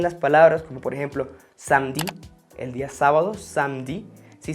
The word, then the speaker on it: samedi: Cuando lo encontramos en posición intermedia en las palabras, como por ejemplo samedi, el día sábado, samedi, sí se escribe samedi, pero yo pronuncio samedi, como si fuese solo la M.